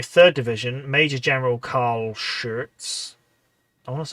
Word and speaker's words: Schurz: Schurz is pronounced Schurz. Schurz.